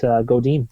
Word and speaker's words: Godin: In fact, I was watching an interview on The Good Life Project with Seth Godin, mm-hmm. and or Godin, as some people pronounce it, and it was